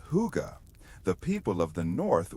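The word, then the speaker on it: hygge: Long before the modern world fell in love with the Danish word huga, pronounced huga, the people of the north were living it out of necessity.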